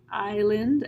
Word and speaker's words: island: a z axes bracelet island S is silent pseudo here we begin